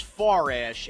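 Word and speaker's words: Farash: It says he's 29, and Sean Forash is actually spelled F-A-R-A-S-H, and his Sean is with a W. So his first name is spelled differently, and his last name doesn't have an O like yours. Again, it's Morash and it's Forash, and it's Sean, and it's both from West Babylon.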